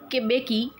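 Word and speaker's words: Mbeki: Then Thabo बेकी was sworn in as first deputy president. 2 deputy presidents allot किए गए थे. First deputy president बने थे थाबो बेकी. M here is silent.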